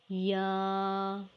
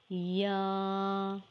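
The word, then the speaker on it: ي: Ya is a light and soft sound letter pronounced by middle of the tongue and roof of the mouth. You can read after me. Ya, Ya. Read once again. Ya.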